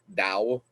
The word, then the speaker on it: Tao: the translations of the dao t-a-o and it's pronounced more with a d like dao but the dao it's